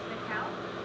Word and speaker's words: Michale: How do I pronounce that? I want to do it right. Michale?